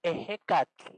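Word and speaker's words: Ehecatl: La primera palabra se pronuncia ejecatl. A ver, ayúdenme a pronunciarla ejecatl.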